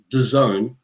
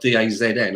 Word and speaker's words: DAZN: of the game on the zone apparently i've been told it's not dazn i've been saying it wrong it's designed i'm not